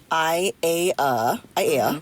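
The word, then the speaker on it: ʻAiea: in case anybody is curious she is from I a AA that's how you say it and there's this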